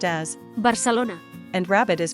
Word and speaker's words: Barcelona: While Catalan has quite a few dialects, the standard Catalan in Barcelona pronounces unaccented a and e as schwa and unaccented o as u, so Barcelona is pronounced as Barcelona, and rabbit is pronounced